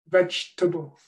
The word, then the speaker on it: vegetable: I've put the missing syllable in small here, comfortable, because most speakers cut that syllable out. Comfortable, vegetable.